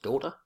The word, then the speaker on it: daughter: the words one of my favorite words daughter so G not pronounced inch not pronounced and the letter R